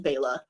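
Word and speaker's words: Bela: bellosi b b Lugosi I only learned when I did my Frankenstein Deep dive that it was actually pronounced Baya didn't know that um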